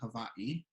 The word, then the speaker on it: Hawaiʻi: hawaii yes so um there's actually a couple ways to say it and my mom says a different way from how i say it my mom says hawaii but um if you look at the word you see h-a-w-a-i-okina i so we we got